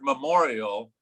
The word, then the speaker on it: memorial: just said the word memorial, say it for me. Memorial. Memorial. Memorial. So a lot of folks don't get the first and second syllable very clear. It's not memorial, it's memorial. Okay.